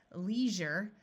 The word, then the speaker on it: leisure: Leisure. Notice that this SURE is pronounced jure.